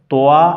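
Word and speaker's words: طاء: আর এটাকে পড়েছি জোয়া তাহলে সঠিক উচ্চারণ হচ্ছে তোয়া এটা হবে না জোয়া এমনটি হবে না সঠিক উচ্চারণটা অবশ্যই এখানে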